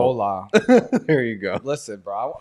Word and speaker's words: hola: whole lot meat you you don't pronounce the h in that you don't hola there you go listen